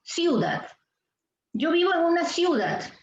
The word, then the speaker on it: ciudad: Tú dices ciudad. ¿En qué sílaba, chicos, está el acento? Dat. Muy bien.